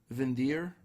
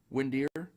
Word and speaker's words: Windir: I believe it's pronounced vin deer almost as if like a like a german type pronunciation i think i've read different things online some people said it's just pronounced windier some people said that